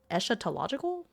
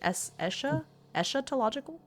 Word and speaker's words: eschatological: Eschatological? Eschatological? Is that how you say it? Or is it eschatological?